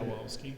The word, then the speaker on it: Stawowski: Stawowski. Yep. That's I want you guys to notice that in his name, there is the term "wow." and ski. And so, what's up, Tom?